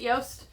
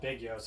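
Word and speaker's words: Jost Van Dyke: currently located at little yoast Van Dyke it's the smaller island of obviously Big yoast Van Dyke is it yoast yeah I don't think it's called Big yose I think it's just yoast whatever I can't pronounce it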